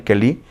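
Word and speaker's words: כְּלִי: Me gusta porque entonces en la palabra hebrea, aunque sí está escudero, la palabra kelí, con acento en la i, kelí, es un utensilio para defender, pero figuradamente, ¿sabe qué significa esta palabra?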